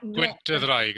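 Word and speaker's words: Gwynt y Ddraig: Gwyntydraig, that's what it's pronounced.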